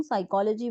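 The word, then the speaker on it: psychology: word से बना था इसलिए इसकी स्पेलिंग यहां से पी से स्टार्ट हुई लेकिन जब हमने उसको इंग्लिश में बोलना शुरू किया तो इस पी को हमने प्रोनाउंस नहीं किया और फिर वही सेम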